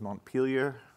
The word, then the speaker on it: Montpelier: The New England pronunciation was Montpelier and Barry.